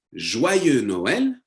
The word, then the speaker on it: Joyeux Noël: You can say Joyeux Noël, Joyeux Noël, with an X that you don't pronounce.